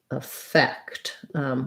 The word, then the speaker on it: effect: both the same which they both sound like a effect with the stress on the k on the second syllable effect so the first e or a is both is a schwa in both cases you might hear it